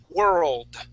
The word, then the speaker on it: world: Okay, so first off, this word is world. Okay, this is a really hard word to say. It really is, because you're kind of like swallowing that R into the L and D. It's a difficult one.